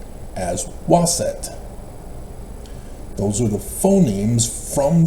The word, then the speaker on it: Waset: That's why they pronounce as Waset.